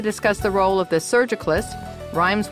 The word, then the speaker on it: surgicalist: And joining us today to discuss the role of the surgicalist, rhymes with hospitalist, is Dr.